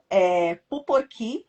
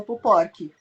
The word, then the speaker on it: Puporkí: Bom, Puporqui, né? Essa é a pronúncia, porque tem um acento lá no finalzinho no i, mas a maioria das pessoas fala Puporqui.